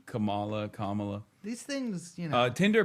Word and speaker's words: Kamala: That is how you say Kamala.